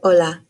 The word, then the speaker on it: hola: in the word agua the letter h is silent as in the word hola here's another vowel the